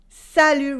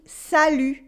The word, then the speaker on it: salut: Salut, repeat after me, salut, with a silent T, salut. And the U sound, salut.